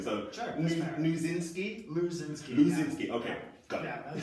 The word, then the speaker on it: Luczynski: Luzinski.